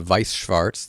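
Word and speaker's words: Weiß Schwarz: another card game called Vicewarts. That's how you pronounce it. It's German.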